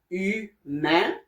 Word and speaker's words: humain: And the sound H-U, you, like in the word humain, which means human.